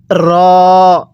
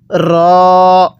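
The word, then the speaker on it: ر: র এর উচ্চারণ হবে জিহ্বার আগার পিঠ সেই বরাবর উপরের তালুর সাথে লাগাইয়া র টা উচ্চারণ হবে তাহলে এই হরফটা আমরা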